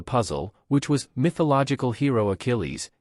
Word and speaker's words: Achilles: which was mythological hero Achilles he pronounced the Greek war hero as aillis after a slight pause the buzzer sounded and the game continued on to the next player who pronounced the name correctly even though the contestant